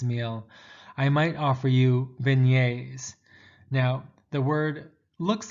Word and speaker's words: beignet: i might offer you beignets now the word looks like it's going to be pronounced beg nets but beignet is got a french creole sound to it and what it consists